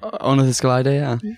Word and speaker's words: Ornithoscelida: So we're joined by Matt Barron, and he is the author of the somewhat controversial Ornithoscelida. Is that how you say it? Ornithoscelida, yeah.